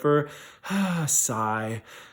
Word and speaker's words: Versailles: World War II, because think of the pronunciation of Versailles. This is how I remember it: Versailles. Sigh. This treaty sucks.